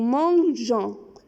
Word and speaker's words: mangeons: Nous mangeons. If we don't put E, we will pronounce it mango.